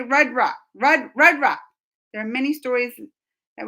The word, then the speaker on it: Rudra: Rudra.